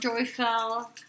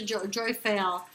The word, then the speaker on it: Jophiel: Call on Jophiel, doctor. Sorry about that. Occupational hazard. I have two, angels and doctors. Call on Archangel Jophiel. She's got even joy in her name. That's how you say her name.